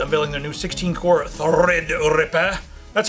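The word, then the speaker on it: Threadripper: talk about AMD unveiling their new 16 core thread Ripper that's how you say it correctly the thread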